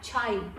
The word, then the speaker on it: Chayi: So it's spelt D-O-N-T, don't, and C-H-A-Y-I, Chai. Is that the tea we drink, Shourov? No, and I put the Y in, so it wouldn't be chai.